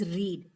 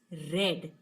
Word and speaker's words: read: about the present verb, the pronunciation is read. Now when we use this verb as the past, so we need to pronounce it as read. So when we say read, it comes into our mind that this is the past tense. So the pronunciation changes of this verb.